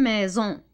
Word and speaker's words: maison: différentes manières comment ça on peut l'écrire avec la lettre s et en le prononce z pourquoi parce qu'il est placé entre deux voies y aide par exemple une maison une maison alors un sion si